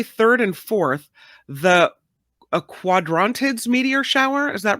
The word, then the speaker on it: Quadrantids: see uh January 3rd and 4th the a quadrantids meteor shower is that right yes good good pronunciation that's right so every once in a